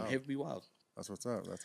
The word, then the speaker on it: Hev B Wyld: But Wyld is spelled W-Y-L-D. So it's got that hip hop flavor.